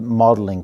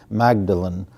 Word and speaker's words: Magdalen: a fellowship in English language and literature at Magdalen College in Oxford. A lot of times when Americans read the name, they see Magdalen, but the British pronounce it Magdalen.